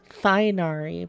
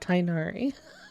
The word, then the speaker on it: Tainari: I suppose you say his name like... Thainari, but Tainari.